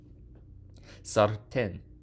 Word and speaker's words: sartén: Sartén. Sartén. Accent on the E.